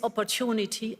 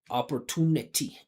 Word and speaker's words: opportunity: did a live opport anytime you have ity like she's stressing the correct syllable right ity the syllable before is the primary stress but then because the t that comes after is unstressed you should keep the vibration and make it make it vibrate into a flap t.